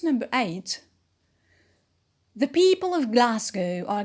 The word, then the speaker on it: Glasgow: it is not stressed glasgow is a british city and the stress is on gla glasgow ah is the main